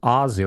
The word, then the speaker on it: Aussie: Technically, you spell it Aussie, but then you pronounce it Aussie, like Ozzy Osbourne.